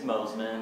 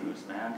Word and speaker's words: Mosman: It's Mosman. Mosman. But that's okay. Everybody pronounces it Mooseman, so I've embraced it.